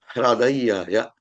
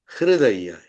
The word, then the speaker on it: Hradayaya: in this particular Anuvakam, that is Hradayaya. It should not be chanted as Hridayaya.